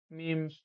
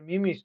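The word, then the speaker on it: meme: email এই written পেইডেড মিমস এটা মিমস না উচ্চারণটা হবে মিম এন্ড আইডিয়া বিহেভিয়ার স্টাইল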